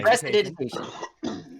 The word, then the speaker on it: prestidigitation: How do you say this thing? Prestidigitation. Yes.